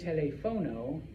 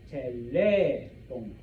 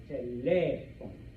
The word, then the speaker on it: teléfono: So when you see that, you do not say telefono, you say teléfono, teléfono. You put stress on that E, okay?